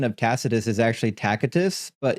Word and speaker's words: Tacitus: the correct pronunciation of Tacitus is actually Tacitus, but in the West, we just say Tacitus because we soften the C.